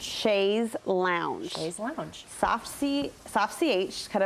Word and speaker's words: chaise lounge: say let me think i used to say chase lounge i think it's chase with a z it's